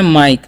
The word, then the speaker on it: mike: MIKE, तो इसे मीके नहीं पढ़ना है, यहाँ पर आई का उच्चारण आई करना है, ठीक है। तो इसे हम पढ़ते हैं माइक।